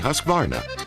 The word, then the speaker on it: Husqvarna: now how to say husqvarna you say husk like corn and vine like varnish without the ish and nah